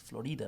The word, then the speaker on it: Florida: It's Florida. That's how they pronounced it in Spanish.